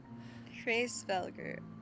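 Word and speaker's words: Hraesvelgr: Hrosvegar.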